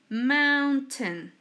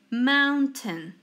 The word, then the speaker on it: mountain: mountain mountain pay attention we don't pronounce the I and these sounds like this mountain okay again let's say it mountain remember that each time